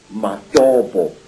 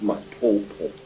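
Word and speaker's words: Matobo: place called the mountains of the round rocks madobo wrongly pronounced matoto in in zimbabwe these hills are really not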